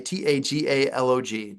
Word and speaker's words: Tagalog: Okay, Tagalog. Tagalog is what it looks like.